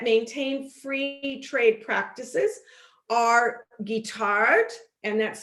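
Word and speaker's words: Guittard: cocoa powder that maintain free trade practices are guitar and that's spelled g-u-i-t-a-r-d and green and black and they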